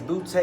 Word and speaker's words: Boutte: Denise Boutte. Denise, thank you so much for joining us. You said it right. I Thanks. said it right? Ah, You didn't call me booty or bout.